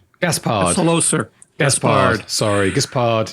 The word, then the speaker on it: Gaspard: Gaspard. Gaspard. Hello, sir. Gaspard. Sorry, Gaspard. You just told me your wife says Gaspard. You say Gaspard.